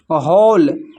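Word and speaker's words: whole: फिर है होल होल में भी डब्ल्यू साइलेंट है।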